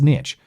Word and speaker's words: niche: It's niche. Well, to be fair, mispronouncing words is the epitome of this show, the epitome of this show. Can callers... Niche is the French way to pronounce it, so use that particular tidbit as you will.